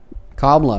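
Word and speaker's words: Kamala: Um, but if I were to have voted, like I wouldn't have wanted to vote for Camela either. Kamla would be how you pronounce her name.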